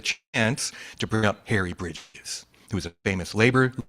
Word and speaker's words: Bridge: It was Harry Bridges, Reverend Harry Bridges, right? And so I said, I'm singular, Harry Bridge. I don't have the S, but it's okay.